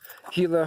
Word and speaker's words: Gila: I'm north of Silver City, just on a borderline south of the Gila Forest. Gila spelled Gila. The G is pronounced as an H.